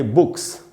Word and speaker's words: books: और जैसे ये है बुक, तो बुक में अगर एस लगाया प्लूरल बनाने के लिए, बहुवचन बनाने के लिए, तो उसको हमको बोलना चाहिए बुक्स।